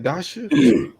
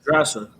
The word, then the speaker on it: Drasa: Dasha? It is How do you pronounce it? It was Drasa.